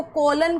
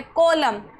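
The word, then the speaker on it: column: अब इसको कॉलन कॉलन नहीं पनना। यह है कॉलम। क्यों? क्योंकि हमारा यहां पे एन साइलेंट है।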